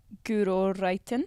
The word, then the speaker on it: Guro Reiten: GURO REITEN.